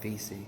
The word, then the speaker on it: Vesey: That's Denmark Vesey. I don't know why I pronounced that wrong.